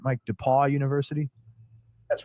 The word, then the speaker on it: DePaul: Am I pronouncing this right, Mike? DePaul University? That's right. Okay, DePaul University.